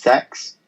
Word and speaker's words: CeX: I work for is called CeX like the letters but it's pronounced sex okay and um we